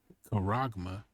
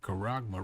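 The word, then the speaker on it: χάραγμα: and poor, free and bond, to receive a charagma in their right hand or in their foreheads. Now, the reason I said charagma right here is because that's what that actually says when you go into the Greek.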